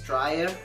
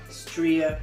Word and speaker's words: Stria: to pronounce it because i pronounced it as strya when it was supposed to pronounce as stria sport stria sport okay the